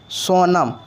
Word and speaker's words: Sonam: सोनम। ऐसा क्यों? क्योंकि दंत नो का उच्चारण करिएगा तो उसके साथ ओ शब्द आता है, और ओ का इंग्लिश क्या आता है?